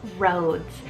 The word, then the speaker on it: Rhodes: the boys is Rhodes it's spelled r h o d e s roads and this one's a